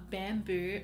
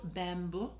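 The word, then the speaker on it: Bambou: a beautiful beautiful color it's called bamboo so bamboo but um it's spelled o u it's kind of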